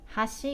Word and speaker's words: 端: then bridge has she gave us an edge has she got he must okay so thank you bye-bye